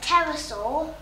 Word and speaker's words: pterosaur: They were actually something called a pterosaur. A pterosaur? A pterosaur. Wow. Wow. And also they begin with a silent P.